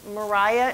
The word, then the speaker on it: Maria: And mostly people are now understanding her name to be pronounced Mariah instead of Maria.